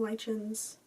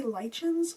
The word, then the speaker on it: lichens: Do you guys say lichens or lichens? I feel like sometimes I say lichens and sometimes I say lichens. I think both are accepted pronunciations of the word.